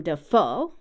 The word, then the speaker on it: Dafoe: it's a triplet rhythm because his last name is emphasized on the last syllable Willem Dafoe and some examples of